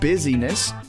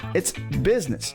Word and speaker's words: business: It's not busyness. It's not business either. I've heard that too. It's business.